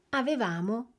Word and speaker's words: avevamo: Avete sentito la differenza di posizione nell'accento tra il noi e il loro? Rivediamola insieme. Noi amavamo, avevamo, ci divertivamo e loro amavano, avevano e si divertivano. Fate attenzione all'accento dell'imperfetto perché nella coniugazione si muove.